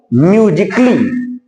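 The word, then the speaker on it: musically: म्यूजिकली। तो ये देखो सी का उच्चारण दे रहा, लेकिन ए का यहां पर कोई उच्चारण नहीं आया है।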